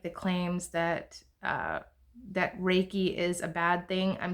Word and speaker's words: Reiki: word Reiki okay what you what we call raiki we spell it re e i k i when you